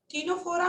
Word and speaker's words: Ctenophora: टीनोफोरा में यस। जो jellyfish जैसे होते हैं ना, कॉम लाइक, देखो होता क्या है कि जो टीनोफोरा सी साइलेंट होता है तुम्हारा, ठीक है।